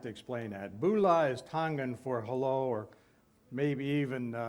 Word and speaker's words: Tonga: here as Tonya Ortona they kind of leave out that hard G when you put the